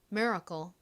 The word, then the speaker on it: miracle: 됩니다 미라클 의미는 기적이죠 실제 미국식 원어 발음으로는가 된 소리로 거처럼 발음이 되어서 miracle miracle 이렇게 발음이 됩니다 그리고 마지막 단어는 어떻게